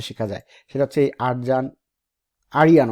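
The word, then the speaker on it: Arjan: সেটা হচ্ছে এই আরিয়ান ওরা বলে উচ্চারণ আসলে, কিন্তু লিখতে আরজান কোডস।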